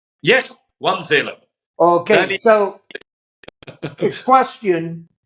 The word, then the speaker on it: Wanzeele: Wanzeele.